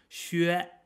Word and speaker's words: xue: No, it doesn't have any A on the end. Xue, xue, it's like meh, or yes without the S.